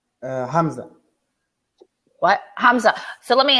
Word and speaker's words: Hamza: how do you say your first name uh Hamza what Hamza so let me ask you this